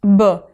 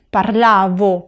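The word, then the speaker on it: parlavo: persona Luis lailey parlaba otra cosa que tienes que tener en cuenta es la pronunciación de la v no es Bo es parlabo parlavi parlaba parlabamo parlabate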